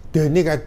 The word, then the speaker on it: the: dengan pemakaian D ya D ini kadang dibaca di ya Kenapa yang bedakan kalau D dimulai Sekali lagi bukan huruf tapi bunyi mati kalau dibaca di dimulai bunyi hidup Ya kita lihat D